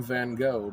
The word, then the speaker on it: Van Gogh: supposedly should know better we'll call him van go because it's so much easier and it's entered our common language van go Vincent vanol